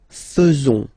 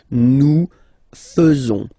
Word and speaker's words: faisons: So it's quite strange because French people tend to pronounce faisons. Okay? So like here, this AE is not pronounced like normally we should pronounce it like E, but then like okay? Nous faisons.